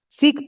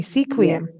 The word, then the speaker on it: Sequim: go up that area seek oh excuse me Sequim I can't pronounce anything